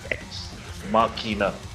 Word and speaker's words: Ex Machina: Okay, so it's actually, so I give you the pronunciation first. It's actually Deus Yeah, Ex Machina.